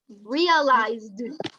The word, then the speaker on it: realized: If you say just realize, it's incorrect. The pronunciation. You say realized.